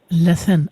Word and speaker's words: Lythan: It's a great Welsh name, and you pronounced it perfectly. It's Lythan. Lythan.